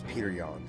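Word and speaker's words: Petr Yan: It's Peter Yan, okay, people?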